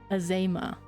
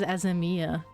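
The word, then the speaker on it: Azeyma: Azema. I keep wanting to pronounce it as Azemia.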